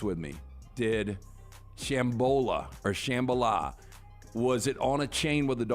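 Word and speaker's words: Shambala: and it was named Shambola. Shambhala. 3 Dog Night. Yeah. Oh, really? Yeah, I think that was it. Shambhala, not Shambola.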